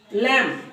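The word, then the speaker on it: lamb: के धर्म से संबंधित है आगे कहता है लैम लैम मीस भेड़ का बच्चा ठीक है भेड़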